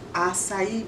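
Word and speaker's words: açaí: Today we're going to do one of my new favorites, an acai bowl.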